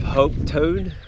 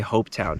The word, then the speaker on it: Hopetoun: Well, we're just a couple of minutes out of HOPETOUN. I think that's how you pronounce it. Kind of sounds like how a Scottish person would say HOPETOUN.